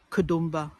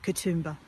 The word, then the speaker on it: Katoomba: And it's more like kadum kumba or kadumba, but we call it katumba.